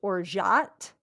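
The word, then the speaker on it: orgeat: up and it was in the U.S it said it's pronounced or jat and then in French it's pronounced or ja okay so it's like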